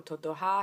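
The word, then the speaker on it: Totohá: neighborhood is called totoja I want to say first off that I was not able to put an accent on the a in Totowa in iMovie there should be an accent just so you all know totoha has an accent on the a at the end um so what you'll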